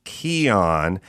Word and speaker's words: Kion: It's Again, I'll spell it Kion. It's pronounced Kion.